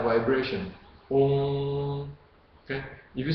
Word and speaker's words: Om: If you pronounce Om, okay, notice people normally will say Om, O-M, Om. Okay? Actually, Om is not proper, it's Om, O-O-N-G, Om.